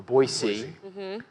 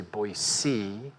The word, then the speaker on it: Boise: The poster child would be a Boise. And I learned that you say Boise. Not Boise. Oh, shit. Yeah, Okay. right. I think that's right. The mayor of we'll check Boise you on it called later, me up like